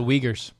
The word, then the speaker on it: Uyghur: the begins with the you in china the uyghurs it's it's pronounced uyghur oh i apologize it's spelled jugger